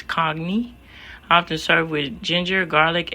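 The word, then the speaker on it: congee: food in Malaysia often I believe the pronunciation of this is cogy often served with ginger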